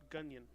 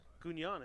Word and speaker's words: Gugnon: I would do Gunyon. Gunyon? I don't know. It's up to you. Gugnon is fine. Gunyon's I think how I'd pronounce it, just in the street. But Gunyon is phonetically correct as well.